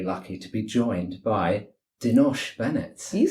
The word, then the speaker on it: Denosh: been very very lucky to be joined by denos Bennett you said my name correct pronunciation of everything thank you it's a pleasure